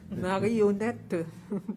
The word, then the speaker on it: marionnette: Marionnette. Is it how you say it in French? Marionnette, oui.